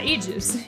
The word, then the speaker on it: Aegis: that her name is based off of is pronounced e-juice or Aid yeah Aegis e-e-j-i-s-s so we bring I think and